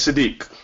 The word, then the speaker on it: Sadik: pronounced your name um it's sadik sadik very good yeah um